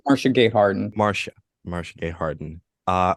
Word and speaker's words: Marcia Gay Harden: am going to highlight Marcia gayhearted did I say her name right I think it's Marcia Gay Harden Marcia Marcia Gay Harden